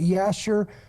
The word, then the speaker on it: Jasher: The book of Jasher, some pronounce it Yasher.